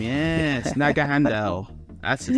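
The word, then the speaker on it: Naganadel: this this Ultra it's like so hard to pronounce dud right nag Handel that's its name yes Naga Handel that's his name and so just so you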